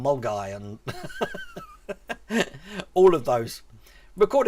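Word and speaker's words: Milngavie: And Milgavy rather than Mulguy and all of those.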